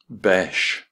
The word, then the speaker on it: Besh: Besh rhymes with mesh.